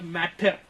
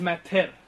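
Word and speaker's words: mater: இட் இஸ் நாட் மேட்டர், இட் இஸ் மெத்தர்.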